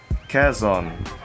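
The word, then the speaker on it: Quezon: which is plaridel so kazon how do we pronounce kazon it's like keiss but with the letter n in it so okay and so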